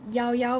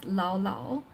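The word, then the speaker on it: Llao Llao: yogurt shop, which is called Yao Yao because it's double L and it's Spanish, which he mispronounces and calls Lao Lao.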